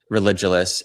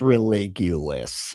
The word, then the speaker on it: Religulous: entire idea behind this channel literally is because when I watch a documentary like religious and as much as it is all framed to it's pronounced religulous.